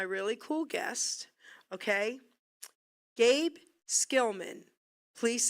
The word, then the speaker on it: Schillman: Gabe Skilman, please say hello.